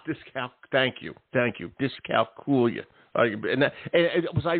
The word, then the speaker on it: dyscalculia: of the pronunciations uh the more common one is discala as though you're saying Julia ah discal thank you thank you discal coolia and was I right